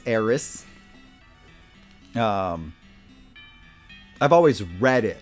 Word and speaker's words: Aerith: Eris please is it I think it's supposed to be pronounced Aries I think that was the the correct pronunciation and we've all been saying it wrong uh this is the